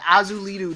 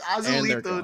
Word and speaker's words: Azulito: Oh, my producer yelled at me and said Azulitu Dust. That's what you said. You literally pronounced it just like that to me. Azulita Dust, 41. Thank you. Oh, he just left. It's Azulito Dust.